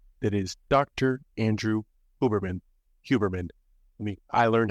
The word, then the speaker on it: Huberman: a special guest that is Dr Andrew huberman huberman let me I learned how to pronounce that correctly huberman after watching this podcast because he has a